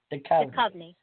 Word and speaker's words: Duchovny: Duchovny.